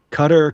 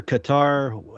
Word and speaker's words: Qatar: Qatar, cutter, Qatar, however you want to pronounce it.